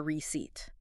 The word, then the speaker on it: receipt: In this particular word, that p is completely 100% silent.